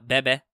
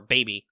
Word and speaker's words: BB: BB doesn't mind if you pronounce her name Bebe or Baby, so that's cool.